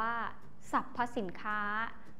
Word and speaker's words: สรรพสินค้า: สะกด ตาม หลัง มา ให้ อ่าน ออก เสียง เหมือน มี สระ อะ กับ ตัว สะกด ของ คำ นั้น ๆ เช่น คำ ว่า ว่า สรรพสินค้า อ่าน ว่า สรรพสินค้า นัก เรียน สังเกต คำ